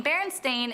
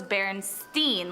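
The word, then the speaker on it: Berenstain: many remember the name Baron stain is spelled with an a like stain but many including myself would put money on the fact that it was Baron Steen like with an E the first time I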